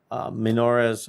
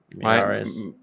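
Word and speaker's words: Miyares: But going back up statewide, Minores, I never say his name right. Miares. Jason Miares. Miares.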